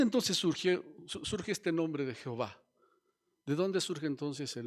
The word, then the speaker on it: Jehová: Bueno, la palabra Jehová, simple y sencillamente, es el resultado de unir de una manera inadecuada las consonantes del nombre de Dios con las vocales hebreas del término Adonai.